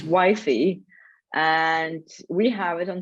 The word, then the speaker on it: YFI: so not give but uh how do i pronounce it correctly i don't know so it's wifey and we have it on starbucks so it's